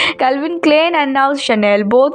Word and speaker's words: Chanel: Brand ambassador of शल वैसे तो इसका स्पेलिंग चैनल लग रहा है लेकिन प्रोनाउंसिएशन शनेल है।